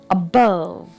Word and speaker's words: above: Above. Here the stress is on the second syllable.